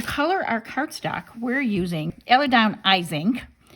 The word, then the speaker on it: IZINK: And to color our cardstock, we're using IZINK, or IZINK is how they say it, Dye Spray.